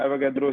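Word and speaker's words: Avogadro: जो है आपका एवोगैड्रो, इसका नाम एवोगैड्रो ही प्रोनाउंस होता है क्योंकि ये इटली का रहने वाला था, वहां पर ऐसी ही स्पेनिश इटली ऐसी लैंग्वेज है।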